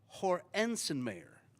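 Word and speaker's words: Hoernschemeyer: and I'm going to and I got the pronunciation here Hensen Mayer hor insen mayor yes Bob Hornen may I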